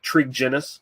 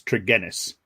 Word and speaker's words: Tregennis: to correct you but it's a hard G so it's trigonis Ennis okay maybe that's